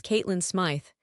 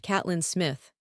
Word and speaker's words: Caitlyn: My name is Caitlyn Smith. Note pronounced Catelyn Smith.